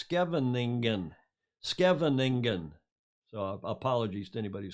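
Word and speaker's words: Scheveningen: and he is in i've learned how to pronounce this julia this is you like skippol airport it's kevin negan skevening so apologies to anybody who speaks dutch better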